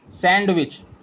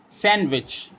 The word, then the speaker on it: sandwich: handsome H sandwich and also we pronounced sometime sandwich D is a silent here we do not use sandwich we read it sandwich is a days name